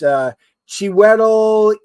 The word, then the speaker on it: Chiwetel: And I can never pronounce his name. It's Chiwetel Oh right.